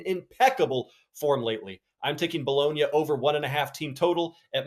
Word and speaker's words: Bologna: don't want to sound dumb here, it's just Bologna, right? Bologna.